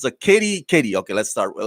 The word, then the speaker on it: Katee: watch Battlestar Galactica and I know how to pronounce Tricia but I don't it's a Katie Katie okay let's start well let's let's go